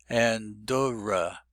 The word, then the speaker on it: Andorra: And Dora, now the double D indicates that the second syllable is stressed, not the first syllable, which is usual in American English. Andorra.